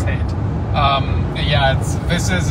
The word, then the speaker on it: Haight: Okay, it's Haight.